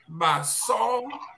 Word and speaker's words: Basaw: It's pronounced Basaw.